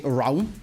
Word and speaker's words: Raum: Yeah, that joke doesn't make sense if you pronounce it like that. Yeah, his name's actually Raum, not Rum.